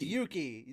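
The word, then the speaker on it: Yuuki: It's two U's. Yeah. That- Yeah. But it's Yuki- pronounced Yuki. There's not a pause in between. It's not Yuki.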